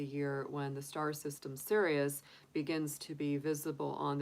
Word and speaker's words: Sirius: Now, Sirius, spelled not Sirius, like as in, you know, being serious, but it's spelled Sirius.